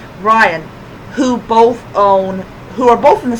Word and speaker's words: Ryan: I have to keep on saying it rhymes with Brian. Ryan, who are both in the same business.